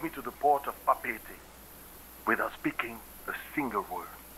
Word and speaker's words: Papeete: It's pronounced Papeete. It sort of seemed like he kind of emphasized the second E in there, Papeete, but really blended it very well, so it was kind of like Papeete.